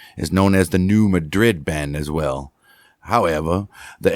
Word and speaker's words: New Madrid: The town of New Madrid, pronounced Madrid. Madrid.